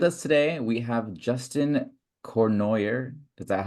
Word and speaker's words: Cournoyer: It's Cournoyer, it's French, but Cournoyer. Cournoyer is fine for No, the Cournoyer. American audience. Cournoyer sounds much better than the way I pronounce it.